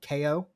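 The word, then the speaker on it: Kao: supposed to be pronounced ko the kangaroo kangaroo k-a-o um which looks like cow but i guess it's it's a play on words he's a kangaroo with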